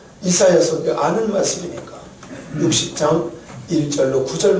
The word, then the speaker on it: 이사야: 이사야. 할렐루야. 원래 이 이사야라는 원래 본토는 예샤야라는 말이에요. 예샤야. 그런데 우리나라 발음으로 쉽게 하려고 이사야 이렇게 표현했어요.